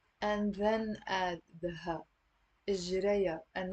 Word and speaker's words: إجريا: إجريا. So it's three syllables. إجريا. And notice here the ha, I'm not pronouncing it. It's silent.